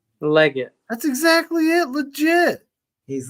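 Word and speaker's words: Legette: And then how do you pronounce his last name? Is he legit? Leggett.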